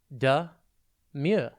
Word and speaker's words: demure: It's pronounced demure, and it is spelt D-E-M-U-R-E. Think D, as in D-E, and then mure.